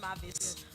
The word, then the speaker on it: Mavis: It's pronounced Mavis.